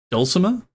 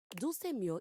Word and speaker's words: Dulce Mio: Is that Dulcimer? No. Dulce Mio is completely different pronunciation, spelling, and comportment.